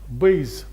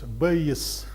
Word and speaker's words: Bayes: I consulted the internet and found at least 3 different versions of pronunciation. Bayes, one of the versions. Bayes is another one, and some other versions are also possible.